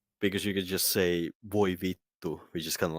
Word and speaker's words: vittu: It has to be vittu, How's that which is spelled?